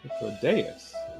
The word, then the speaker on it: Hythlodaeus: Hythlodaeus. Okay. I was correct about pronouncing Sulking beside me is the most Perfect.